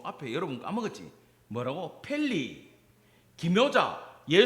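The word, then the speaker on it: פלא: 발음이 안 좋으니까 안 따라 하시는데 히브리어로 해버릴 거야. 따라합시다. 펠리.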